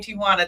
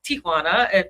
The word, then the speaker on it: Ti'Juana: It's really pronounced Tijuana. Tijuana. If you're from the Spanish culture, but Americans say Tijuana.